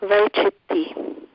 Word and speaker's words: Vaichitti: How you spell it? It's V-A-I-C-I-T-T-I, Vaichitti.